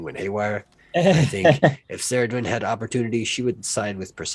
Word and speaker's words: Cerridwen: Cerridwen. Yeah. Got the hard K, guys. Cerridwen.